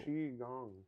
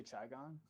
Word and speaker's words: Qigong: says it's pronounced Delayed audio. Qigong. Qigong. Thanks. जी Did I हाँ say Chai Gong?